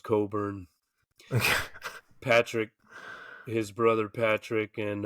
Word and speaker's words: Cockburn: used to be right Coburn it says cockburn but okay it's pronounced Coburn Patrick his brother Patrick